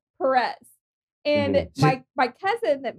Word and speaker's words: Perez: your last name my last name you say perez okay because mike yeah we got you all